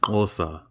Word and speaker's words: Hausa: And that and was actually... pronounced Osa. Ooh. You got to do the click with your tongue.